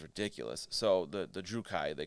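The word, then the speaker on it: Druchii: this is one that the pronunciation is kind of weird uh i i say drukai i've been told at different times this drew kai because they're two eyes at the end d-r-u-c-h-i-i um at first i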